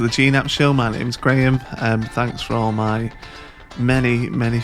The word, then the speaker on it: Graham: My full name is Graham. Graham is just a name my mum liked. It's spelled Grame, not Ham.